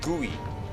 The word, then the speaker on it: GUI: hot gooey gooey gooey they called it guey. They even said how to pronounce it G O E Y because everyone was using